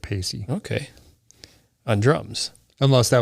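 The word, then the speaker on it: Paice: keyboards and Ian Pace if I'm pronouncing py pacy yeah I heard him pronounce it pacy okay on drums unless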